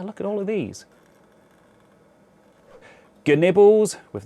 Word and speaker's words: GNibbles: GNibbles - with the hard G - making an appearance again.